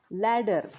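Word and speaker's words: ladder: आर बी कर्ब okay लॅडर लॅडर तर spelling मध्ये ए आर लिहितोय का आपण नाही आपण इ आरच लिहितोय पण त्याचा उच्चार कसा करतोय अ सारखा करतोय ए सारखा करतोय एल ए डबल डी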